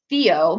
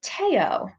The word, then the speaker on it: Theo: are by a belgian designer and i was pronouncing it theo because that's how it's spelled to this um dumb old american and it's actually taiyo all right so just correcting myself i don't